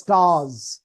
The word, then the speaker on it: stars: উচ্চারণ হবে z এর মতো members না এসের উচ্চারণটা z এর মতো হবে members যেমন stars আমরা বলি stars বলি না না stars stairs